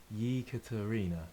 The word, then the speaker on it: Ekaterina: My wife is Russian, and you would say Ekaterina.